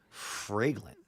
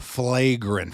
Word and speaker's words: Flagrant: Fragrant. How do you say it? Flagrant. Flagrant. Like a flagrant foul.